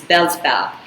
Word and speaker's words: Beelzebub: a demon of envy this demon's name is bellsval now a little bit hard to pronounce it's b e e l z e